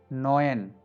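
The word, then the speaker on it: neun: Okay, next E यू या अ यू, इसका pronunciation होता है ओए। नोयन, so by spell नोयन।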